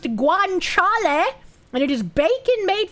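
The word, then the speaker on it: guanciale: It's pronounced guanchal and it is bacon made from pig cheek.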